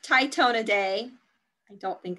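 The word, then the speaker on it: Tytonidae: captions at the bottom there but it is pronounced tytona day i don't think it's popping up correctly but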